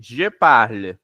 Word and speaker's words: parle: ficar como je parle, termina no e, na verdade, termina no l e não é pronunciado, mas se escreve. Repet. Geparl.